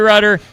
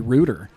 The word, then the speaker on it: Ryder: was mentioning before, you you were actually surprised that I was pronouncing your last name right. Yes, I was a lot a lot of people I'd say a majority of people are you know Barry Rutder and growing up